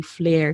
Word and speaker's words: Flair: And if you're curious how to pronounce my name, it's actually Flair, like fire flare.